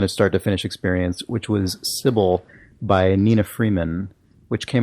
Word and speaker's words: Cibele: And I would have expected it to be pronounced Cibele, but I guess the developer Nina Freeman pronounces it Cibele, so that is what it is.